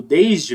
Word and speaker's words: desde: como um s mesmo esse S daqui do desde você vai pronunciar como se fosse um z desde são Z desde